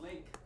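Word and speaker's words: LingQ: to tell you it you wouldn't know how to spell it that's the problem it's called link l-i-n-g-q it's labor learning Ally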